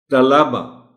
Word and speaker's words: طلبہ: بول جاتے ہیں ہم، طلبہ لام پر جو زبر ہے اس کو نمایاں ہونا چاہیے۔ حاضری، ذرا احتیاط کی